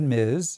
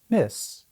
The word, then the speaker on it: Ms: Some people said miz, especially in the south. Others said miss.